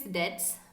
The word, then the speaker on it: debts: So that kind of high risk debts So the pronunciation is debts, B is silence.